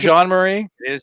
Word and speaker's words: Jean-Marie: so sam is it ryan john marie am i saying it right correctly i agree yeah bro it is jean-marie john marie all right